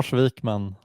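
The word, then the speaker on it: Wikman: Do you want to give us the the real Swedish pronunciation? L Vikman and I run a small consultancy called Unud.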